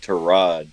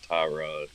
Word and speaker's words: Tyrod: Baker Mayfield said his name is pronounced Terod Taylor, not Tyrod.